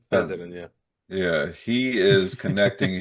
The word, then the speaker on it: Fessenden: I always mispronounce his name. Larry Fessenden. Yeah, Fessenden. Fessenden, yeah.